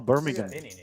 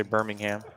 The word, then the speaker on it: Birmingham: Oh, Birmingham. Birmingham Airport. You see that word right there? How would you say that? Check. Even though you heard I'm me gonna mess it up because I'm gonna say Birmingham.